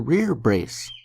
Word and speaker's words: rerebrace: The metal part that protects your bicep and upper arm is called a rear brace. That's not how it's spelled, but that's how it's pronounced.